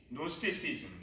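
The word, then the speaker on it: Gnosticism: 그래서 그 지식을 그노시스라고 하는데 그 때문에 이들을 노스티시즘, 이들의 주장하는 것을 영지주의라고 합니다. 이 영어에서는 앞에 G가 묵음이 되기 때문에 발음이 안 되고 이제 그노시스인데 노스티시즘, 이게 이제 영지주의가 되는 것이죠.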